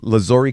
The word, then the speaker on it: Lazuri: And and in here we got uh Kanan and Rafat from Turkish Lazori Caf. Is that how you pronounce it?